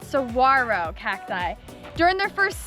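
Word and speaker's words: saguaro: So, these are called suarro. We've been saying them wrong this whole time. It's not saguarro. The G is silent. Sarro cacti.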